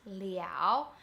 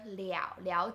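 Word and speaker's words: 了: see in this sentence the first word is pronounced liao and the second la is action completion same character but different pronunciation different meaning and to answer you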